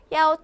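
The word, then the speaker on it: 幺: 이치치 힘들죠 힘들다라는 거예요 헷갈린다는 거죠 그래서 야로 발음합니다 자 야오 한번가 볼게요 야오 치치 괜찮죠 입도 편해요 그렇기 때문에 1은 전화번호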